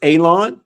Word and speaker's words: Alon: With that being said, my name is Alon, pronounced like you're going to cut grass, like you're going to cut a lawn. It's not spelled that way, but it is pronounced that way.